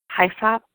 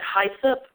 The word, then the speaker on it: hyssop: One more oil is blue cypress, and then pronounced it hyssop, so that is actually hyssop for us Southerners.